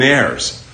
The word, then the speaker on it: heir: one of the human heirs. You're a human heir. Rhymes with legionnaire, rhymes with millionaire, kind of rhymes. Sounds a lot like legionnaire.